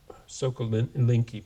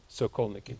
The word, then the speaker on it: Sokolniki: anodized dome in I never know how to pronounce this. Sokolinki Park, Moscow, 1959. Can you pronounce it? What was it? Sokolniki.